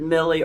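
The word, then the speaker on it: Mille: AP, you know, uh Richard Millie or Mill, however you want to pronounce it, uh how they get a lot of credit.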